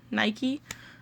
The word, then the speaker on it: Nike: Here in the US, we pronounce the shoe brand Nike.